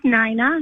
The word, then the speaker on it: Nina: Nina? It's N like Nancy, INA. So it looks like Nina, but it's Nina.